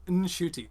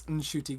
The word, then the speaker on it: Ncuti: He got it wrong, so it's Ncuti. So the N is. I thought the N wasn't pronounced. Oh, okay. The N is pronounced, so it's Ncuti Gatwa.